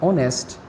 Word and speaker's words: honest: Here we have to notice that the words hour, honest, heir begin with a vowel sound as the initial consonant h is not pronounced.